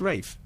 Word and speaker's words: Ralph: but you know if he says it's Rafe it's Rafe okay and I'm and you're Simon yeah